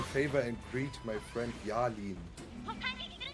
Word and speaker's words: Yalin: Do me a favor and greet my friend Yalin. How do you pronounce? Yalin. Yalin? Y-A-L-I-N. Yalin?